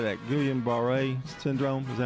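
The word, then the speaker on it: Guillain-Barré: Gillian Baret Syndrome.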